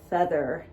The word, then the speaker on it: Pfethyr: at this beautiful girl Pfethyr. And her name is not spelled like a feather. It's spelled Pfethyr.